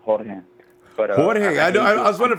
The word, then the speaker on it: Jorge: Ronbo, my name is when you pronounce it, supposed to be pronounced in Spanish, so it's Jorge.